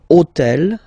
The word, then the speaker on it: hôtel: took on purpose this hôtel, okay, because it starts with H, but remember that in French we don't pronounce H, okay, so basically the first sound of the word is the vowel O, okay, so for the